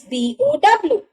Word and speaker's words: bow: is bow you see the spelling of go and bow is same that is b o w we just pronounce them differently the first one is bow that is to bend we all bow in